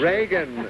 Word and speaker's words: Reagan: being with us tonight I say it right re Reagan Reagan is the correct I was sure about